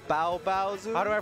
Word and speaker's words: Baobaozu: How do I pronounce his name? Baobaozu.